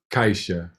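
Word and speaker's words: caixa: word means box and it's pronounced kaisha kaisha and you can hear where it has that sound kaisha but in a word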